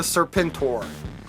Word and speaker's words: Serpentor: but yeah back to serpentor it's spelled Serpent and then capital o period capital r period but it it's Ser pentor from uh GI Joe and this I mean